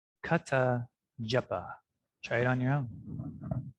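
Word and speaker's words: kathā japaḥ: So, kata japa. Kata japa. Try it on your own. Kata japa.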